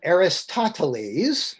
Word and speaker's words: Aristotle: by a fellow named aristotles his the roman pronunciation of his name is aristotle who borrowed the system